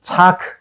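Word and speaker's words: צעק: 그 호소하다가 바로이 차크 차크라고요. 호소하다, 부르짖다, 소리 치다, 부르다 이런 뜻을 가지고 있어요. 어떤 느낌인지 알겠죠?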